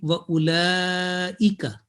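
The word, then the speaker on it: أُولَٰئِكَ: taken, though this is, it looks like a half-cut ayn, but this should not be taken in any case as a ayn, and it should be wa ulaika, okay, not ulaika.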